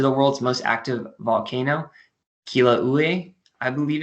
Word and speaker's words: Kilauea: It's also home to the world's most active volcano, Kilauea, I believe it's how it's pronounced.